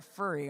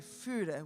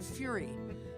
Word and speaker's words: Fure: He goes, "You're a furry, aren't you?" Now you have to understand, most of my relatives pronounce the name Furry. It's actually Fure, which means furrow in Norwegian.